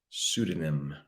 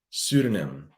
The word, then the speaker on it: pseudonym: a weird one starts the p but we pronounce that word pseudonym pseudonym and what is it it's a fake name